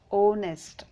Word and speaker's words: honest: see here phonetic script h is cancelled h is silent here so we are pronouncing as honest man ownest o o is uh